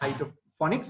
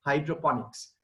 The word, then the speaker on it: hydroponics: can google hydroponics it's not hydroponics many people pronounce it at height of Phonics but it's hydroponics right so we get the vertical garden the